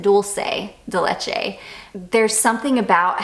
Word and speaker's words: dulce de leche: caramel and I think it's dolce de leche in this or Dulce I think that's how people told me to pronounce it dulce de leche there's something about how